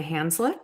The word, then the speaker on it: Hanzlik: your end sure hi my name is hanslik okay that's great there we go I'm glad that you pronounced your last name I meant to do that as well so I figured it was hands like but you never know so I'm sure you've